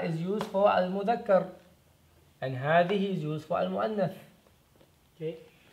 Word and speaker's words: هذه: هذه is pronounced as هذه. Okay. This is the word, but it's pronounced like this. هذه. So there's like an additional alif right there. هذه.